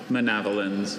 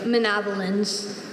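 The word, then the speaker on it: manavelins: Sometimes as a speller, you memorize things basically, okay, it sounds like javelins. I'll spell it that way with that schwa letter.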